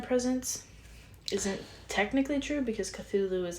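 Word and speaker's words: Cthulhu: he wrote a letter to somebody saying it's pronounced cthulu so yeah interesting reading and writing by seven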